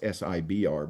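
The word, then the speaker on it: SBIR: government they have programs like the SIBR, it's pronounced SIBR, but Small Business Innovation, can't remember what the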